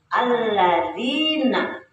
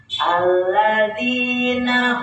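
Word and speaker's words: الذين: Alladzina, dinya mah tabi'i, berapa harokat? 2 harokat, pakai titik ya, jadi enggak dibacanya. Alladzina hum, nah naknya pendek ya, masih ada yang suka dibacanya panjang. Jadi mikir apa kurang tahu ya, itu belum nggak jelas. Jadi kalau pendek itu langsung ke depan.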